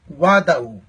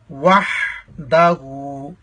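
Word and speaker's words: وَحْدَهُ: مثلا بہت سے لوگ یہاں پڑھتے ہیں وعدہ. وعدہ نہیں ہے بلکہ وحدہ. ہا کو واضح کریں گے. ہا کا مخرج حلق کا درمیانے حصہ ہے, حلق کے درمیانے سے نکالیں گے وحدہ.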